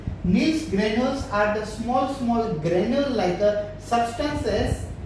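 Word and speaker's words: Nissl granules: Nils granules। कैसे? Nils granule। Don't put the L at the beginning in your pronunciation.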